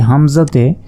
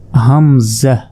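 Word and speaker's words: همزة: এটা হচ্ছে হামজা এ হামজাতে কোন টান দেয়া যাবে না হামজাহ হামজাহ হামজাহ হামজাহ অনেকে হামজা বলে আসলে হামজাহ হামজাহ এরপর দেখুন ইয়া ইয়া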